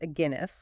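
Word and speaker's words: Aguinis: a good one by agenus pronounced a Guinness like the beer and forkum now before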